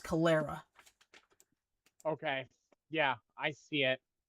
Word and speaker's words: Calera: Are you looking at the one near Caldera? Uh, Calera? Calera. It's pronounced Calera.